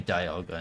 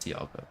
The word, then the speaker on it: Dialga: Like, it should be Dialga, not Dialga, but the thing says Dialga. Is it still pronounced Palkia?